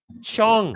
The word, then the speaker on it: Chong: Rhymes with wrong. It rhymes with long.